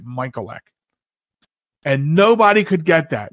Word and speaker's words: Michalec: real quick story so i pronounced him when i was a kid in catholic school we pronounced it michael ek and nobody could get